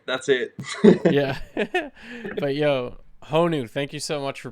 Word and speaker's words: Honu: Yeah, I'm from Colorado, so I think it's like Hanu. It's just like falls into the way that I pronounce O's and shit.